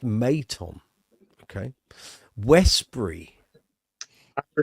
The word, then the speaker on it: Maton: Pronounced Maton.